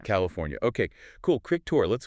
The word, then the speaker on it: California: Make sure you get that fornia sound at the end. California. California.